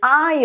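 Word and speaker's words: aisle: ou então Wendel sim então não pronuncie o s aqui então eu quero muito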